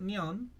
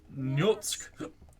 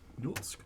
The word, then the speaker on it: Nyatsk: Not Nyan, but Nyatsk. Say it like a Eastern European. Nyatsk.